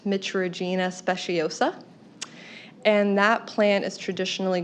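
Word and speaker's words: Mitragyna speciosa: I believe it's pronounced Mitragina speciosa.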